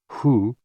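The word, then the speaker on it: hoo: associated with the kidneys h o o pronounced like who which is associated with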